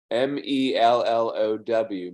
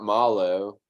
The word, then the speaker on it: marshmallow: about mosh Mallow no not Milo mellow like you're very marshmallow is spelled m-a-r-s-h-m-a-l-o-l-o-w not Milo it's mellow like your melon Manilow is spelled m